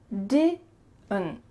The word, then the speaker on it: didn't: So that final D is cut short, and the final T as well is cut. So it's really going to be just your throat. Can you say that with me? Didn't, didn't, didn't, didn't.